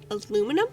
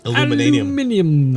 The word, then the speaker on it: aluminium: say, I'm gonna pronounce this. Aluminum? Aluminum. Aluminum. Aluminium.